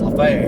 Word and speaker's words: Lafayette: Spelled like Lafayette, but in the chat, I think it's pronounced Lafayette here.